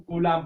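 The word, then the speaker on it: Coulomb: इसमें B silent रहता है, इसे हम कूलाम पढ़ते हैं, ठीक है।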